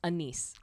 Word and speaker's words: Anise: Oh, by the way, the last episode we did, it's Anise. That's how you pronounce it. It is Anise. So you were right the first time.